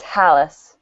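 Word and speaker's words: Halasz: that he's in it it's Halas palace on so it's like a girl named Alice with an H oh that's good later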